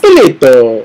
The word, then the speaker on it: Ippolito: It's Ippolito. Like Mario Brothers, like Super Mario style.